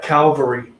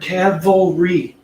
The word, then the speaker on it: cavalry: go ahead with them one two and not calvary for the love of god people please stop